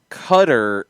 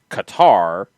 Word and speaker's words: Qatar: it's actually it's crazy that cutter is probably closer to the pronunciation in that country yeah um but they've went with more of an angelized version of Qatar and the one that